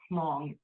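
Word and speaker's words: Hmong: And one example is the pong culture which I will write here because there's an H in the beginning but you don't really pronounce it. So it's like pong.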